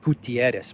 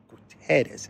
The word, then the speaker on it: Guterres: to a certain country I always say Gutierrez but it's Antonio Gutierrez is the correct uh pronunciation of the U.N